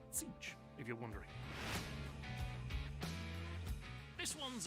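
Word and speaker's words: Tzeentch: Sticking in the realm of chaos, the name of the Changer of the Ways presents a perplexing puzzle of pronunciation. It's Zeech, if you're wondering.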